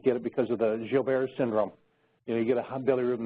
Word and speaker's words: Gilbert: I tell the parents, Gilbert's syndrome, because it's pronounced Gilbert's, but it's spelled Gilbert's, and I tell them